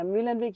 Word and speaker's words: Muehlenweg: beautiful introduction so yes my name is milenwig you did a great job pronouncing it and I got my fresh pair